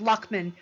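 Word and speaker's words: Layamon: So the English version of Arthur's story was first written by, his name is pronounced Lockman, and the name of the work is called The Brute.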